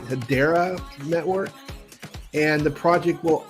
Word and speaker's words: Hedera: launched on habar's head I think they they pronounced it hedera Network and the project